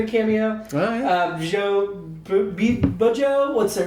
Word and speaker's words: Bjo: Joe Bujo, it's spelled BJO.